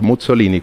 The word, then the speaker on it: Muzzolini: origen italiano Por supuesto mi apellido es con doble Z de hecho se pronuncia hasta Mussolini como como la pizza bien bueno entonces se